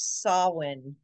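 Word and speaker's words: Samhain: have Halloween All Hallows Eve also known as sawin and yes it's spelled Sam ha but it is pronounced sa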